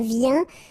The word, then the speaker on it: viens: Je viens. Final S not pronounced, okay? When you combine this IEN, you get this yen, yen.